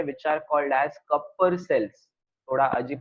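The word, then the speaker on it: Kupffer: Cells present होते हैं which are called as Kapoor sales. थोड़ा अजीब प्रोनाउंसिएशन है बट ये साइंटिस्ट का नाम है, अगेन कपर सेल्स।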